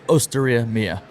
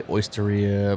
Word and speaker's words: Osteria Mia: say it properly uh it's osteria mia okay some people say oysteria but it's osteria has nothing to do with oysters you know okay not at oyster bar oh do you